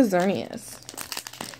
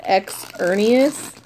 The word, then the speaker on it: Xerneas: to start with the xerneas all right someone call it X Ernest I know I can't